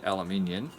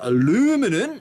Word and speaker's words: aluminium: It's quite light for its size, so I figured it's got to be aluminium, or aluminum, as the Americans say.